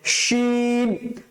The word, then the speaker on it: শিন: করে আওয়াজ হবে মুখ মুখ ভর্তি করে আওয়াজ হবে মুখ ভর্তি আওয়াজ হবে